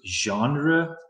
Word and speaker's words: genre: It starts with a G. We pronounce it genre, kind of a weird starting sound.